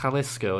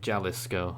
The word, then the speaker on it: Jalisco: not so bad but it was Jalisco not jealous girl as you said earlier my apologies and